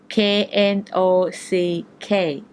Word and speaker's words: knock: 2 ของ โดว์ ใหม่ k n o c k แปล ว่า เคาะ นะ คะ เคาะ ก๊อก ๆ แต่ เสียง เคาะ ของ ฝรั่ง เขา ออก เสียง ได้ ยิน เสียง เป็น Knock Knock นะ คะ น็อค ๆ ก็